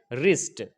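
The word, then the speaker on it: wrist: जाएगा इसी तरीके से रिस्ट अगर आर से पहले डब्लू हो तो क्या होगा साइलेंट हो जाएगा इसके बाद व तक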